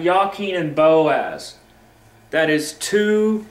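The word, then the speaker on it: Jachin: so yaken and Boaz there is no J and Hebrew Okay so the actual pronunciation be yaken so we have yakin and Boaz that is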